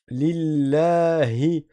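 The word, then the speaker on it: لله: Là aussi on a une lettre qui vient du fond de la gorge. Le ha attention à ne pas dire un ha. Ici on dit pas li. Et on dit pas li. Yi c'est pas y i. C'est pas l comme beaucoup font notamment dans les pays africains. Non, il faut bien sortir la lettre H.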